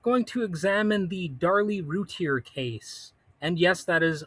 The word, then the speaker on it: Routier: Well, hello and welcome to Critical Weight Theory, and I'm going to examine the Darlie Routier case. And yes, that is apparently how it is pronounced.